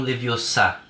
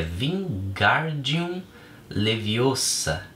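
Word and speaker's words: Wingardium Leviosa: como Paz de Moinha você está dizendo o feitiço errado Harry vim corrigir aborrecida é Vin guardium leviosa o Gar é bem pronunciado e longo diz você então que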